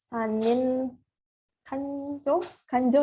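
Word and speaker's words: 三人官女: Jadi tingkat yang kedua itu ada sanin kanjo ya bacanya ya. Atau ada yang bilang juga nyokang.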